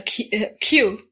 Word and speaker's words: queue: like the letter well it sounds like the letter q but it's spelled it's longer than Q it's spelled q e u e wow Q so they